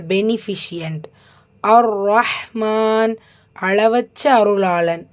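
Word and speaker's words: الرَّحْمٰن: அர் ரஹ்மான் உச்சரிக்கும் முறை அலிஃப் ஃபத்ஹா, லாம்ல ஹரக்கத்தில், ஸோ உச்சரிக்க வேண்டாம், ஷம்சியாவுடைய சட்டம். ரால ஷத்தா இருக்கு, அழுத்தம் கொடுக்கணும், கூடவே ஃபத்ஹா இருக்கு, வல்லினப்படுத்தி ஓதணும். ஸோ அலிஃப் ஃபத்ஹா, ரா ஷத்தா.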